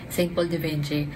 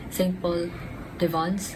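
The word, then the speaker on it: Saint-Paul-de-Vence: And I ended up pronouncing the perfume name, St. Paul de Vinci. I actually searched yung pronunciation nito. It's St. Paul de Vons.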